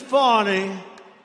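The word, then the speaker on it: Fani: spelled f a n i my name is fonnie f a n i i don't figure it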